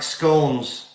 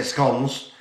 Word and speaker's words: scone: They're like scones. Some people say scones, and some people say scones, but not as dry.